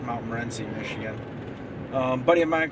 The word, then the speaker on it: Morenci: I think you pronounce it Mount Morenci, Michigan.